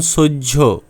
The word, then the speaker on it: সহ্য: চতুর্থ নিয়ম হলো হ এর পর জ ফলা থাকলে জ ফলা জ ঝ উচ্চারিত হয়। যেমন সহ্য গ্রাহ্য ইত্যাদি।